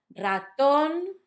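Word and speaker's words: ratón: Let me say the 3 words again so you can notice that stress. Raton, not raton. Lápiz, not lápiz. And teléfono, because I know you said telephone, so it would be teléfono if you went with the English.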